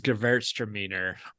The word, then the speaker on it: Gewürztraminer: I think someone said to me about Traminette is it out Gewürzes Gewürztraminer. Did I pronounce that correctly? Yeah, I think you did. Gewürztraminer, girls are meaner, however you want to say it.